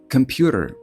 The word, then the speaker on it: computer: Перше - це аспірація на К. К кк має бути з придахом к computer. А далі йде найпоширеніший звук в англійській мові. Якщо ви знаєте, про що йде мова, напишіть в коментарі. Але це не буде computer, а computer. І в кінці з'являється flap t computer.